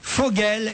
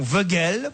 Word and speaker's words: Vogel: Il dit qu'on doit prononcer Vogel et non Vogel pour le joueur suisse, et on doit dire Ancho et non pas Enchose pour le joueur qui s'écrit Enchose.